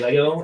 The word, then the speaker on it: Lego: word the plural of lego is lego there's no s um lego has said it and i don't really care what people say and people get all bent out of shape because some people say it wrong in the forums or on facebook say it whatever you want to say but the correct way is technically unofficially is this lego with no s so if you